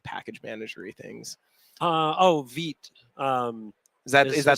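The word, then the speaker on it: Vite: Vit. Um is that is that the new hotness? Yeah. All right. Is how do I spell that? Vit. VIT. It's the French word for uh fast.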